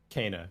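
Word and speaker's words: Kena: everyone now finally knows the correct way to say it Kana right Ka got it Kana 100% can't go wrong now best mobile game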